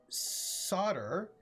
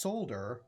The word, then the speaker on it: solder: And solder is pronounced solder, not solder.